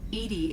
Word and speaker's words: EDI: are you named Edie Edie is the phonetic pronunciation of EDI that is an acronym